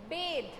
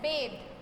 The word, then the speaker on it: bathe: Okay, the pronunciation of this word is bathe, not bath. This is bath and this is bathe.